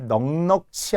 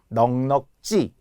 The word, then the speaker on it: 넉넉지: 기출 문제 넉넉지 않아요 놀랍게도 많은 사람들이 넉넉치 않다고 해요 살림이 넉넉치 않다 절대 안 돼요 넉넉지 찌라고 발음하는데 하가 탈락하는 이유 앞에 기억을